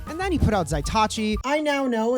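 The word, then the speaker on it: Zatoichi: done something wrong and then he put out zaitachi i now know it's pronounced zatsuichi and not zatachi but um what can i say i'm a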